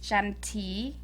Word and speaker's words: Chanthy: your birth in cambodia it's pronounced chanti shanti and then my last name